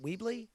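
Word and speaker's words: Wyble: Is it Weeble? Weeble? Weibel.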